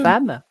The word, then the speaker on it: femme: Alors, pourquoi le E de C'est de- femme se prononce A? Parce qu'il y a deux M et que ça ça modifie la prononciation.